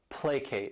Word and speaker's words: placate: This word has 2 syllables and the stress is on that first syllable, placate.